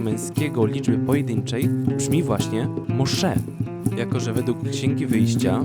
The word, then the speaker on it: Moshe: księgi wyjścia imię mojżesz po hebrajsku wymawia się to muszę musze akcent na drugą sylabę co do pochodzenia tego